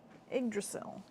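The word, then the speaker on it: Yggdrasil: r a s i l that sounds cool igil igdrasil thank you I love pronunciation keys I do it with my name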